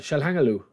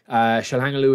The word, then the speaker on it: Çalhanoğlu: Yeah, Çalhanoğlu. That's how you pronounce his name, somebody told me.